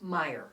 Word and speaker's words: Meyer: Meyer. Meyer, not Mayer.